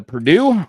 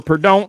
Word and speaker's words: Purdue: We're now on to Purdue or Purdue, depending where you live. It's pronounced differently in different parts of the country. Some call it Purdue, some call it Purdue. Usually it's an Indiana thing.